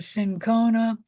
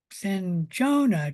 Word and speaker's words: cinchona: in the bark of the cinchona or the cinchona tree. Both pronunciations are correct.